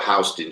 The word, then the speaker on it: Houston: in New York we got a street called hting Street now hon street is spelled the same way as Houston like Houston